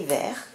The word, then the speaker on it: vers: Donc ces quatre mots, vers, vers, vers et vers, ont le même son, on les prononce de la même manière, mais ils ont complètement des sens différents.